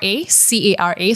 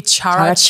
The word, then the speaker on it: Cara: C-A-R-A. So if you guys are Malaysian, you'll probably say Cara. That was my first time pronouncing it. I said it that way. But yes, it's Cara.